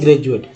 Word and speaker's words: graduate: ग्रेजुएट। डी को ड द ज तीनों बोलते हैं।